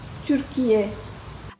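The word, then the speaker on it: Türkiye: de la prononciation correcte c'est Turquia et on prononce Turquia à l'instar de la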